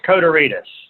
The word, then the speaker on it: Kotarides: Am I pronouncing that right? It's Kotarides.